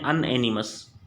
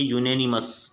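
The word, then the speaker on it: unanimous: इसको कई लोग पढ़ते हैं अनएनिमस। क्या बोला मैंने? मैंने बोला कई लोग इसको अनएनिमस पढ़ते हैं। क्या पढ़ते हैं? अनएनिमस पढ़ते हैं। लेकिन अनएनिमस इसका जो प्रोनाउंसिएशन है वो सही नहीं है। अनएनिमस इसका जो प्रोनाउंसिएशन है वो बिल्कुल सही नहीं है। इसको हम लोगों को पढ़ना चाहिए। क्या पढ़ना चाहिए? इसको हम लोगों को पढ़ना चाहिए यूनेनिमस।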